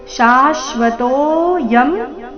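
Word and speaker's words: शाश्वतोऽयम्: ಅರ್ಧಶ ರೀತಿ ನಿತ್ಯ ಶಾಶ್ವತೋ ಶಾಶ್ವತೋ ಶ ದೀರ್ಘ ಬಂದು ಆಘಾತ ತೋ ನಂತರ ಅವಗ್ರಹ ಇದೆ ತೋ ಸ್ವಲ್ಪ ದೀರ್ಘ ಶಾಶ್ವತೋಯಂ ಪುರಾಣೋ ಅಜೋ ನಿತ್ಯ ಶಾಶ್ವತೋಯಂ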